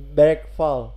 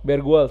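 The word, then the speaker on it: Bergvall: Bergfall. Bergwal sebenarnya. Bergal. Bergal. Itu bergal V-nya tu bacanya U.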